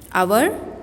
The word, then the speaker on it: hour: It is not known as hour, it is hour, O-U-R, H is silent. 3 words I told you, if you remember. Hour, honesty, then one more, honorable.